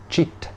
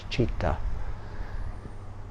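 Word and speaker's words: citta: Refuge internal refuge for the cheetah or cheat I think you might usually pronounce it here in Thailand cheetah c-i-t-t-a is the party word cheetah with AKA viveka Refuge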